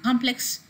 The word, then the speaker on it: complex: has a different suffix in complex the stresses are come and when a word complexity is derived from it you have the stress on plex in the same way